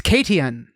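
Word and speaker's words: Caitian: Yeah, Cation is spelled Cation. It's Katian.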